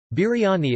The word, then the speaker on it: biryani: Biryani, pronounced bir-ya-ni, also known as biryani,